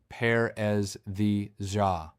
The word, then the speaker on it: paresthesia: The clinical term is paresthesia, pronounced paresthesia.